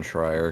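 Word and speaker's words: Schreier: goes especially for sure you said it right Jason shrier because yeah I know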